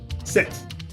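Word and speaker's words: sept: Then we have seven as set.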